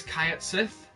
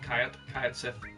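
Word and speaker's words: Cait Sith: I actually just pronounced this Kayat Sith.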